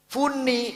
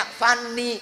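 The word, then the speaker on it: funny: perangnya apa Fani kebahagiaan tulisannya f u n n y Funi bacanya fanni kebahagiaan orang pengin sekarang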